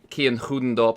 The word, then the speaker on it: Kian Goedendorp: they're on the last lap, the likes of Kian Goedendorp, Angelo D'Ortenzia, Brendan Lee. By the way, that's actually how you pronounce Kian's name.